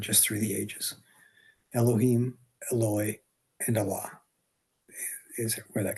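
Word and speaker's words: Eloi: And the word that he used is pronounced Eloy.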